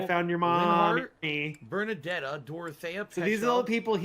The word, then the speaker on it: Bernadetta: Maybe Bernadetta, because Bernadetta. The emphasis is on the first syllable.